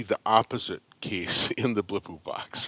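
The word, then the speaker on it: Blippo Box: really tickled me was a thing called a Blippu box. Is that Yep. is that the right name, right pronunciation for it? Yeah, that's fine. Blippobox, yes.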